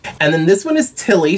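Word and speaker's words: Ptilly: then this one is tilly spelt p-t-i-l-l-y kind of like pterodactyl where the p is silent so far i think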